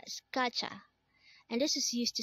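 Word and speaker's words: 가자: cry next word is kacha again this is pronounced as gotcha and this is used to say let's go in an informal manner again kacha means let's go next word is kapshida again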